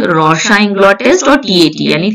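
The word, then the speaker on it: Rorschach: Okay, अच्छा इसका जो प्रोनंसिएशन है ये रोशा है, ये थोड़ा सा फ्रेंच नाम है ना, तो इसलिए फ्रेंच हैं कि स्विस हैं, स्वीडन के हैं, लेकिन इनका प्रोनाउंसिएशन रोशा होता है इसका।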